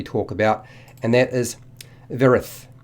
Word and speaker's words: Vyerith: about and that is Varys I believe it's pronounced vera with the Y being silent she's disguised as a